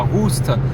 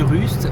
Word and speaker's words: Rust: trémas sur le U, parce que s'il y en a on dit Rust et s'il n'y en a pas on dit Rust, voilà.